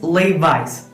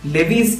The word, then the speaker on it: Levi's: So കൂടുതൽ പേരും ഇത് ഈ നെയിം ഉച്ചരിക്കാറുള്ളത് ലെവീസ് എന്നതാണ്. It is wrong. It is Levi's.